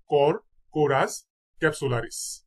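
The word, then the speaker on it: Corchorus capsularis: সেটিবা তারপর পাট পাটের বৈজ্ঞানিক নাম হচ্ছে কর্কোরাস কর্কোরাস ক্যাপসুলারিস কর্করাস ক্যাপসুলারিস আমের বৈজ্ঞানিক নাম হচ্ছে ম্যানগিফেরা ইন্ডিকা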